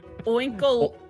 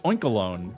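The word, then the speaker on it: Oinkologne: Oinkol. It's Oinkalone, like cologne.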